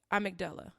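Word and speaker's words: amygdala: hippocampus and the let's see a mcdull yeah a mcdull a mcdull a mcdull I looked it up that's how you pronounce it it's a y g d a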